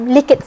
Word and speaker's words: Likert: in a form of Likert scale or like at scale however you wish to pronounce it and also when we